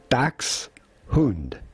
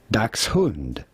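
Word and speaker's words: Dachshund: This would normally be pronounced dax which means badger and hund which means dog. Dax hund dax hund dax hund but in English it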